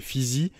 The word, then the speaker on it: Pheezy: Donc c'est Fizi. Ça s'écrit Pheezy.